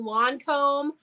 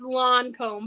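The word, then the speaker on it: Lancôme: Well, how do you pronounce it? I said Lancome. Lancome. It's Lancome, but I always say Lancome. Well, we're in the United States. I mean, we're not in France. We have a hard A.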